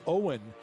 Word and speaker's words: Eoghan: Owen Daly spells his name the Gaelic way, Eoghan, but pronounced Owen.